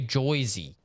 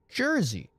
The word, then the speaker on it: Jersey: to Americans as well like to say joisy yeah I'm from joyy no you're not joyy would be j y s y That's joisy you're from Jersey right and the South